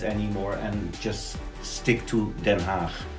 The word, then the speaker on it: Den Haag: it's the new name for The Hague, as the English people call it, is Den Haag. But we also have like the old-fashioned way to pronounce it or to write it, and that's Schravenhagen.